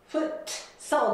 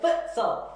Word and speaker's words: futsal: フットサルを週1回やっています。発音が I play futsal なので T は発音しません。 futsal ではなくて futsal、 foot ってしっかり止めて sal で once a week。